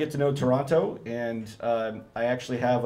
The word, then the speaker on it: Toronto: be awesome down there have to pronounce it Toronto Toronto I'm from there oh thank you it's not Toronto oh I'm so sorry H Toronto yeah